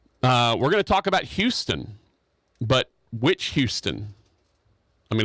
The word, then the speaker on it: Houston: And they pronounce it Houston, not Houston.